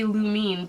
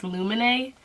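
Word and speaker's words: Lumene: I always want to say Lumine, but I believe it's Lumine. It's pronounced that way.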